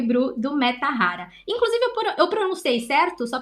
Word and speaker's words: Mettahara: o papo já perguntando se eu tô pronunciando certo tá certo é meta Rara mesmo nossa muita gente tem